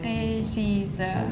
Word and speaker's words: Regisseur: It's a French word originally. So, it's not a German word. Ah, okay, okay, okay. Regisseur. Regisseur. It sounds a little bit French.